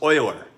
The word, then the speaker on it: Euler: mad Swiss mathematician his name is pronounced Euler okay so just like that so even though this